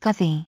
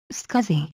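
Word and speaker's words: SCSI: the other components of the computer scuzzy is pronounced scuzzy scuzzy in ics that is used in situations where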